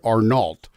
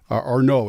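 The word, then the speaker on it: Arnault: the richest man is Bernard arnal Arno is I think it's how you pronounce it actually yeah the chairman of uh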